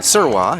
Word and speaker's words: Sirwa: Izzy Sirwa, I checked with the pronunciation. Sirwa is the pronunciation of her last name.